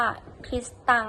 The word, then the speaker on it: คริสตัง: ชาว โปรตุเกส ดัง นั้น การ ออก เสียง คำ ว่า คิสเตียน ใน โปรตุเกส จึง ออก เสียง ว่า คริสตัง ตัว อย่าง Jesus ก็